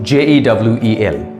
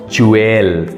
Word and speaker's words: jewel: it's morgage number two j e w e l how would you pronounce this the correct pronunciation is Jewel Jewel Jewel not jeel it's Jewel number three n i c